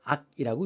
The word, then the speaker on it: 악: 음악이라고 할 때음 아니죠 악기를 얘기할 때는 그 자체가 악이라고 읽습니다 락이 아니에요 그래서 음악이라고 할 때